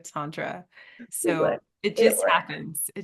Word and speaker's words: Tantra: me all the time when I say Tantra instead of Tantra so it just happens